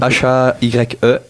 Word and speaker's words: La Haye: H-A-Y-E. Ouais, ça doit être ça. Haye, on va le dire à la française.